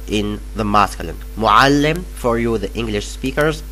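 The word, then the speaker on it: مُعَلِّم: Yeah, I know the ain is so hard to pronounce, but no matter if you say muallim with a, not with a, no matter, we will understand you. If you say muallim, I can understand that you mean teacher in the masculine.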